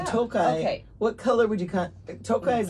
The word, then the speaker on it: Tokaji: hold on a toai what color would you Tokai is like the color is like this color Tokai or tokaji no it's Tokai my mom pronounces it I mean spelled tokaji but it's spel it's pronounced toai toai toai I got it it's very good